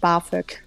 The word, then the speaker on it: BAföG: We just pronounce it BAföG.